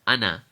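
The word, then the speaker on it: أنا: the screen it's pronounced Anna we're not going to prolong the noon so we're not going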